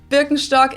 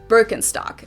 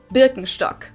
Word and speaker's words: Birkenstock: like if you talk about something typically German Birkenstock is definitely going to be mentioned but of